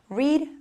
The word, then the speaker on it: read: Acuérdese que read, aunque se escribe igual cuando hablamos en pasado, I read yesterday o I have read many times, se pronuncia como si fuera el color rojo. Read, read, read.